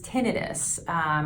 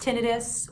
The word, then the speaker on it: tinnitus: One other sign of hearing loss is tinnitus. Pronounced tinnitus or tinnitus. That is a sound that you may hear in your ears or your head that's not actually present in your environment.